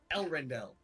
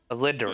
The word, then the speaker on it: Elrindel: it's spelled is Elrindel. Alinderel. Listen to. You're wrong. I know it's your own character, but you're wrong. It's my character, but fuck you, that's the spelling.